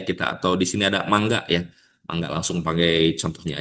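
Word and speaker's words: 漫画: sekalipun ini tuh kata ini tuh dibacanya manga. Padahal yang betulnya itu mangga. Mangga yang misalnya seperti kita menyebut buah mangga atau mangga dalam bahasa Sunda ya.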